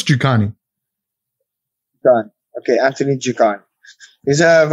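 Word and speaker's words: Njokuani: But now I have to pronounce his name right. I've got it here. I'm sure it's Jukani.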